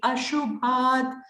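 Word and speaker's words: अशुभात्: Here it is actually ashubhat. But then you see this avagraha. When it is avagraha, you actually automatically pronounce it as moksha se shubhat. You actually extend that, but it's better to say it as moksha se ashubhat, because the word, it is not shubhat.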